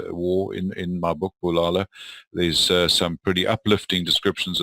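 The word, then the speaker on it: Bulala: a Zulu word so it's not pronounced boo la la well that reads that way but it's Palala and it means destroy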